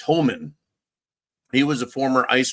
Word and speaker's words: Homan: I kept wanting to call him Holman with an L, but it's Homan.